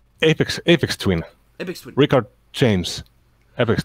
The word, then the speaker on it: Aphex Twin: Like Aphex Twin.